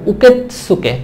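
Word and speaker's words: 受付: বলা হয় হচ্ছে উকেতসুকে উকে না কিন্তু এটা হবে উকেতসুকে ত উচ্চারণ হবে হেয়া হেয়া মানে হচ্ছে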